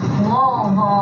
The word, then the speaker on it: Louisville: Is it Louisville or It depends who you ask. I say Louisville. Louisville? Say it like you've had a couple of drinks. Louisville. There you go. That's perfect. Thank you.